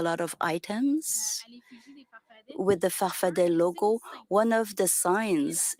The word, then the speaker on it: farfadet: Your movement, you call it farfada with two A's at the end, but you pronounce it farfadet. Answer, depends on who pronounces it. I've always said I'm a farfadet. Answer, okay, I will follow your example, so I will say farfadet.